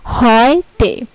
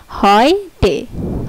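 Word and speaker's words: heute: পরে আছে হচ্ছে যদি কোনো ওয়ার্ডে ইইউ একসাথে থাকে, যদি কোনো ওয়ার্ডে ইইউ একসাথে থাকে তাহলে এটার উচ্চারণ হবে অয়, অয়, ইইউ একসাথে থাকলে হবে অয়। যেমন এই যে হয় টে, এইচ ইইউ টি, হয় টে, হয় টে, এইচ ইইউ টি, হয় টে।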